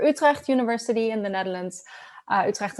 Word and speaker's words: Utrecht: Utrecht is always very interesting to pronounce with the hard g that we have going on.